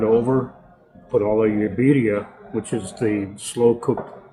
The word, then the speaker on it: birria: Like then you get like a birria. Birria. You pronounce the accent is on the beer.